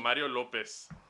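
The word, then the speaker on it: López: acento en la I. Mario Lopez.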